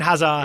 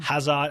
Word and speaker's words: Hazard: I want to give a thumbs up to the duo where you don't pronounce the D's. Okay. Eden Hazard, Yeah.